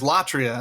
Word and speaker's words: latria: other hand there is latria and this is this is the you know the second and third syllables of idolatry okay so latria is